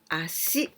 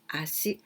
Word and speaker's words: ashi: this is this kanji we can also pronounce acid like this acid i see it means